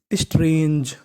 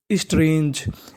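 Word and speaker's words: strange: आपको बता दूं कि अगर इंग्लिश की किसी भी मीनिंग के आखिरी में ई लिखा हो तो हमें ई का उच्चारण नहीं करना आपको इ से पहले तक का उच्चारण करना होता है इ का उच्चारण नहीं करना होता तो मीनिंग बनेगी स्ट्रेंज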